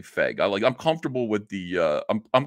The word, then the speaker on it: Feig: I'm going to say Feig. I'm comfortable with the, I'm comfortable with that pronunciation.